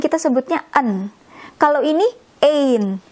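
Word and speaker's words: één: Nah, kita nulisnya ein pakai tanda di sini di atas 2 ini. Gitu ya, pakai tanda karena kita bacanya ein.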